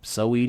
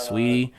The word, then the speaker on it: Saweetie: I think it's Sweetie or So. I don't know how you pronounce her name. Saweetie, yeah, Sweetie.